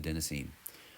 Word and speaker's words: adenosine: Adenosine is green because green rhymes with adenosine.